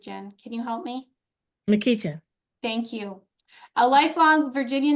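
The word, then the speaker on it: McEachin: Donald Oh my gosh, I'm going to mispronounce it, Jen. Can you help me? McKeechan.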